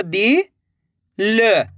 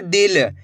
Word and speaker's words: दिल: दा में छोटी ई की मात्रा दी, ल, तो मिलके बन जाएगा दिल। कैसे पढ़ेंगे? दिल। ऐसे नहीं पढ़ना दिल। अगर आप दिल पढ़ोगे तो बड़ी ई की मात्रा का उच्चारण हो जाएगा।